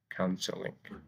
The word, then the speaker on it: counseling: by a vowel, but the word is accented on the first syllable, so we don't double the consonant before adding ing here. Counseling.